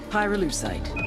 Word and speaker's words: pyrolusite: him you know what pyrolusite is right yeah neither did I Pyrrha lucite key syllable pyro by the way is the